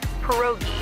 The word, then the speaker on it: pierogi: Pierogi? Did I pronounce that right? It's pronounced pierogi, a tasty dish like dumplings.